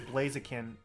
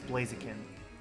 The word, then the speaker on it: Blaziken: i used to pronounce blaziken blaziken which i know is wrong it's blaziken because he's a chicken but um when i